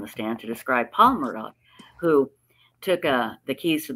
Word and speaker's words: Murdaugh: Maddox, I don't know how they pronounce it. Murdaugh. Thank you.